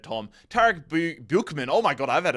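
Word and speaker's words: Tarek Buchmann: And when I say cashing in, it's because Tarek Buchanan, I think I said Tom. Tarek Buchman, oh my god, I've had a world-class stinker.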